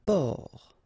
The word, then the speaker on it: port: Un port. Un port. Okay, exactly the same thing here. Only the last letter is different. You don't pronounce it, and then both of them are masculine.